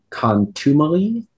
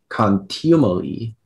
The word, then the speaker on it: contumely: pronunciations yes there are several uh there is contumely continually yes uh all of the pronunciations uh no just one continually contumely c